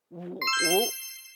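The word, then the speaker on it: 五: The next one is wu, wu, falling and rising tone.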